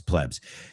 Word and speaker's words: plebs: I said plebes, but it's plebs.